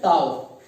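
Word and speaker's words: tau: सबसे पहले देखो ये साइन को देखो, तो ये इस साइन को पढ़ते हैं टाउ, पढ़ने का सही तरीका है टाउ, इसको पढ़ते हैं टाउ।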